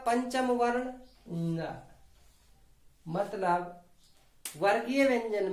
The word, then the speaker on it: ङ: इसका उच्चारण फिर से सीख लो, ङ। क्योंकि जब हम छोटे छोटे थे तो हम पढ़ते थे क ख ग घ ड़, वास्तव में ये ड़ नहीं होता, ये ङ होता है, ङ।